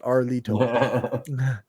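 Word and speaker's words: Erlitou: Nevertheless, most agree that the Xia capital was located along the Yellow River at Arlito. That's what it's actually pronounced, Arlito.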